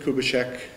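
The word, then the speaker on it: Kubitschek: can't be completed and one politician's term president kubishek am I pronouncing that right yes yes the buildings were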